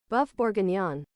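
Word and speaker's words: bœuf bourguignon: Pronunciation. Boeuf bourguignon. That is not with a French accent, but okay. Boeuf bourguignon.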